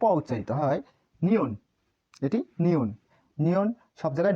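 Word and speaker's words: 니은: এই যে এল এর মতো যেটা, এটা হচ্ছে নিয়ন, এটির নাম নিয়ন, নিয়ন, নিয়ন। নিয়নের উচ্চারণ ন, দন্ত ন, প্রথমেও দন্ত ন, মাঝেও দন্ত ন, নিচেও দন্ত ন উচ্চারিত হয়।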